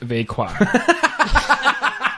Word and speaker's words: Vega: Vega, pronounced Vequa.